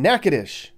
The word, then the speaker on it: Natchitoches: are we anyways well we're in nakadish that's how they say it here it's a Native American word for a type of chestnut tree we're kind of